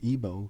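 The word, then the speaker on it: Igbo: get this video out the word ebo can also be spelled I gbo where the g is silent and they has something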